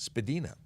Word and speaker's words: Spadina: came up to spadina spilena yeah spadina also actually properly pronounced spadina who knew so i